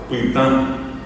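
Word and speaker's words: pytã: Pá, pitan. Eh, pan, pitan. Esa a nasal es es la an es nasal.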